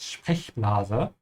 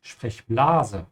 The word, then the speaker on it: Sprechblase: Also man sagt Sprechblase und nicht Sprechblase, ja? So you have to stretch the E and not the A. Sprechblase, ja?